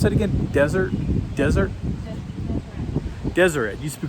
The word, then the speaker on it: Deseret: does yet how do you pronounce it again desert desert desert it used to pronounce the Deseret which actually came from the Book of Mormon